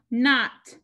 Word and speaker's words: knot: This is not, The K is not pronounced.